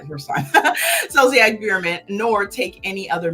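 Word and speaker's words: Zolciak: that Rob did not terminate their relationship with zosak Excuse me zolia ziac yeah I said it right the first time ziac Beerman nor take any other meaningful action to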